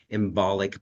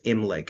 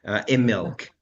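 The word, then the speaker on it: Imbolc: And I know everyone spells it and pronounces it embolic, but it's Imlic actually, Immilk actually, for the Uh, flowing of the milk and the lamb and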